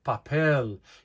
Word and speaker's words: papel: papel papel you say papel you're stressing the e at the end because words that do